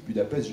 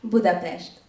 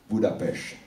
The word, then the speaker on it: Budapest: Comment doit-on prononcer Budapest en hongrois d'ailleurs? Parce que les Français disent Budapest, j'aimerais l'entendre de votre part. Budapest. Budapest. C'est plus joli. Avec T à la fin.